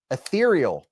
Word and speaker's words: ethereal: out to to you Michael said etheral rhymes with cereal ethereal rhymes with cereal now